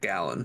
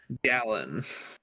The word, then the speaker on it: Gallen: So yeah, maybe the D-backs win that game that Zach Gallen starts. The Denver Broncos? No. Zach Gallen. No, unfortunately. Like not. a gallon, like a gallon of milk? Yeah, but spelled with an E.